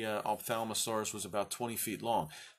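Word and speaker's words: Ophthalmosaurus: Opthalmosaurus. It looks a lot worse, the word, to pronounce than it actually is. If you've ever been to an ophthalmologist, what does that have to do with the eye?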